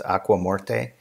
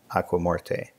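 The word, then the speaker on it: Aigues-Mortes: walled city called and I'm going to pronounce it as if it were Spanish but it's not it's aqua morte which means the stagnant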